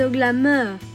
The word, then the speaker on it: Namur: The football player is Nima , but it's not pronounced Nima; it's Namur.